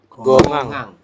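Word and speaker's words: 공항: seperti ini ini ya beda ini kan h-nya hilang teman-teman langsung ke vokal A jadi gongang di basanya apa dibacanya adalah gongang seperti itu oke kemudian ada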